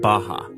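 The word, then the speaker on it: Barra: Out here in the west is a place called Baja. R's are pronounced like H in Portuguese.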